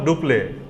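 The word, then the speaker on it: Dupleix: सवाल डुप्लेक्स नहीं, डुप्ले बोलते थे, एक साइलेंट रहता उसमें, डुप्ले, ठीक है।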